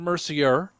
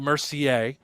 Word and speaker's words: Mercier: intentionally did it there it's jason mercier and isabella mercier spellings are the same although you do say the names differently there's no relation between